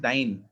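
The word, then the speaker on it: dyne: कोई डायन तो नहीं बोलता ना इसको? नो सर। ये डायन नहीं है, दिस इज डाइन।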